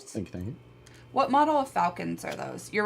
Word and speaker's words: Falken: But why isn't it spelled like a falcon? Because it's the brand. Falken. Falcon? Falken.